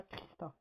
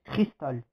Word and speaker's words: Cristal: Oui, aussi, elle s'appelle pas Christa, elle s'appelle Cristal. C'est juste que je le prononce mal.